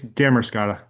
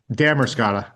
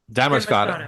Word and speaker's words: Damariscotta: And uh I'd actually like to go underwater to see it's Demorata. Demorrisca. No, no, just forget the demercott. Four syllables. Dammerscotta. Dammercotta.